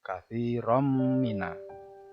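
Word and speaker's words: كثيرا من: Katsiron menjadi katsirom.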